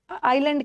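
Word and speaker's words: island: नाम के पहले आर्टिकल आइलैंड के नाम के पहले इसको इज़लैंड नहीं पढ़ना है।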